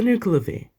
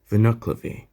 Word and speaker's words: Nuckelavee: have to explain my entire process on for nuclear v or as it's properly pronounced vinoclavi this scottish vocal demon caught my attention almost